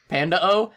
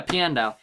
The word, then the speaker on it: Piandao: I literally read that as Panda. Panda-O. I forgot how to pronounce it, and it was like, what the fuck is Panda-O? I know that's not right. Yeah, Piandao.